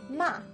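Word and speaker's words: 骂: tone ma means horse in the fourth tone ma means to scold or to yell at now what is all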